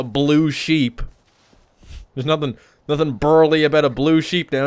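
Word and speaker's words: Bharal: __ ] you not the correct pronunciation of this word is burl they're called burls it sounds like some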